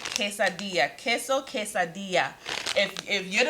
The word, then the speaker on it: quesadilla: use some queso quesad one goody crew member taught me how to say this and i'm gonna say it right quesadilla give me my credit in the comments if i said it right quesadilla queso quesadilla if if